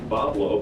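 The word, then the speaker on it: Bois Blanc: Mackinac with round Island and wobble pronounced Pablo by the locals just beyond Mackinac to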